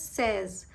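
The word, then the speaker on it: seize: Okay, now you have to remember that 16 is a little different from 6. 6 is C's, 16 is says.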